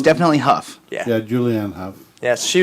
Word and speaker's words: Hough: Well, it's definitely Huff.